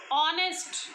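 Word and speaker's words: honest: ऑनेस्ट word होता है, ऑनेस्ट, एच ओ का साउंड दे रहा है, एच तो बोला ही नहीं जा रहा, साइलेंट हो गया, ऑनेस्ट, तो ओ का साउंड दे रहा है, ऑनेस्ट।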